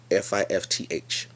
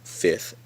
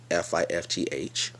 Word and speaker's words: fifth: in fifth fifth so I'm saying the same word but I'm emphasizing the th that is spelled in the word that's important to me